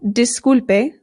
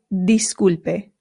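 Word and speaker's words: disculpe: Now in Spanish, the I always makes the sound E. E. So this is not disulpe, it is dispe dispe. Also, it's good to note that the U always makes the sound oo disp.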